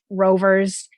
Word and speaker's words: RVR: We have little race cars, so many rovers, including Sphero, which has the option to integrate a microbit within their platform, their new rover platform. And that's RVR, but it's pronounced rover.